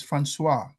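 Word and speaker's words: François: That name is Francis in French. It's Francois. That's French. Okay. That's a French version of Francis.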